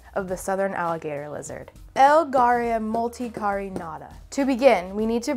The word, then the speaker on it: Elgaria multicarinata: Elgaria multicarinata.